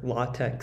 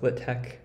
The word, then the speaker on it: LaTeX: which basically tests your latex or law Tech skills uh I pronounce it litek at this point in